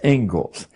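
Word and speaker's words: Inglis: the Engles lecture looks like English but it's pronounced Engles and I would like to read you the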